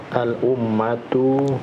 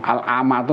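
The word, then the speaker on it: العامة: Ar-rabi nuqat al-ummatu ghaniyatun bil kitabi bil kutubi wal maraji'i Oh, ini salah bacanya al-amatu Mas.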